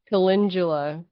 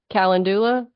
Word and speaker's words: calendula: me so that's awesome when you say kalindula like calendula yes okay I'm not sure which way you pronounce it me yeah caula I think I've heard it actually both ways I mean that's the